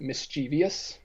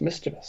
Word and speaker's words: mischievous: pet peeve of mine when people pronounce it mischievous like there's not that there's not an extra syllable there it's just mischievous mischievous yeah but nearly